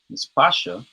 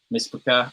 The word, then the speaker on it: Mishpacha: Track number 8, we got Shalom to the Mispasha, featuring Asaph and Leah. Oh, Miss Makai, Miss Makai. Mispaka. Oh, okay, okay. I had a feeling I probably mispronounced that, bro.